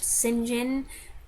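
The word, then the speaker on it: St John: some point what's with the name saint john pronounced sinjin why do they say it that way i don't know it's a british thing i have tried to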